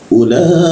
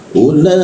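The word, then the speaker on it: أولئك: Ulaika, huruf ka dilekukan siku tenggorokan, lidahnya kita turunkan sehingga ada hembusan udara. Ulaika ya, ka ada hembusan udara seperti itu.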